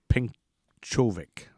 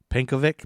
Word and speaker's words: Pencovic: See, Venta was born Francis Frank Herman Penkovic. Probably Penkovic is how you say it. Probably Penkovic. Penkovic, Pencovic, Penkovic, like Yankovic.